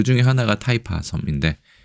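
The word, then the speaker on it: 氹仔: 그래서 이거는 특별히 연습할 필요는 없지 않을까 싶습니다만 재밌게도 이거를 타이파라고 읽습니다.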